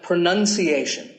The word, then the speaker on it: pronunciation: Well, we say pronounce, pronounced, and pronouncing, but pronunciation. There's no noun in this word. It's pronunciation. Nobody says pronunciation, you fucking clickbait cunt.